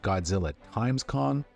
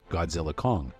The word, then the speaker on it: Godzilla x Kong: How do you say its title? Is it Godzilla x Kong? Is it Godzilla times Kong? What to do? After a quick Google search, however, it turns out that director Adam Wingard says the X is silent, so really the movie's just called Godzilla Kong, The New Empire.